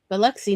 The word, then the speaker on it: Biloxi: Yeah, and like Biloxi, it is not pronounced. It is Biloxi, not. I can't even do it. The French accent is so bad.